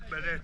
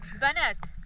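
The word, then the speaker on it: بنات: How do you say girls in Arabic? Banet. Banat. Yes. Banat, yalla.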